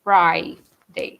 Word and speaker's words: Friday: I know that the use of I can be a little strange in English because different times you pronounce it differently. Sometimes E, sometimes I. In this case, you say Friday, not free, Friday.